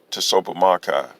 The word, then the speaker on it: Tsopahmocci: conclusion approach issue considerations to soap pomocai t-s-o-p-a-h-m-o-c-c-i pronounced to sopa makai and his five points